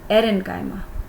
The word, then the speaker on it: aerenchyma: यस, इनका नाम change करेंगे और इनका नाम हम रखेंगे एरेन्काइमा। एयर वर्ड से आएगा, बट be careful, spelling air में AIR वाली नहीं है, इट इज़ एरेन्काइमा।